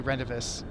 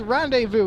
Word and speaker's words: rendezvous: refuse to say them that way i say renovous and it makes him so mad he's like it's pronounced rendezvous and i'm like well it's spelled rendezvous and